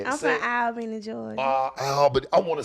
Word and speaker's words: Albany: I'm from Albany, Georgia.